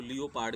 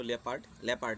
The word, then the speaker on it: leopard: So in the third stanza, leopard, कुछ बच्चे इसको लियोपार्ड भी बोलते हैं, लेकिन इसका सही जो प्रोनाउंसिएशन है वो लेपर्ड है.